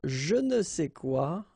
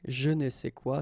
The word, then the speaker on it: je ne sais quoi: And then phonetically, of course, it's the same pronunciation, okay? Un je ne sais quoi, des je ne sais quoi.